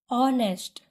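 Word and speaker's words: honest: ऑनेस्ट, again यहाँ पे भी एच साइलेंट है, हम क्या पढ़ रहे हैं? ऑनेस्ट, ऑ, तो हम लिखेंगे एन।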